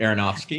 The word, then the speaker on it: Aronofsky: darren aronofsky i don't know if i can't pronounce that right aronofsky thank you mark waters and writer scott silver